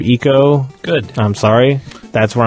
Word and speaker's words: Ico: Ravenbaum gets on my ass for saying Ico as Ico instead of Eco.